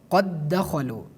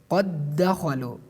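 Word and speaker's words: قَدْ دَخَلُوا: the second letter, like we pronounce it based on idgham, qad dakhalu, qad dakhalu.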